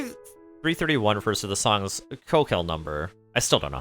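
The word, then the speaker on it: Köchel: Okay, it's pronounced keekle in German or commonly kirkle or keshel in English.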